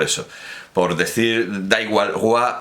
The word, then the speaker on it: roi: Ya recordábamos la pronunciación republicana, popular, que perseguía a quienes decían, en lugar de roi, como se dice ahora, rue, que era la pronunciación antigua, y guillotinaban a gente por pronunciar rue en lugar de roi.